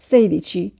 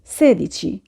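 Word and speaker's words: sedici: উচ্চারণ করেছিলাম সেই সেই ক্ষেত্রে আমরা অনেকেই 16র উচ্চারণ করি সেই দিছি এটা আসলে ভুল উচ্চারণ সেই দিছি হবে না উচ্চারণ হবে সে দিছি দ্বিচাসতে দ্বিচত্ত্ব ইটালিয়ান সংখ্যা 18র ক্ষেত্রে আমরা অনেকেই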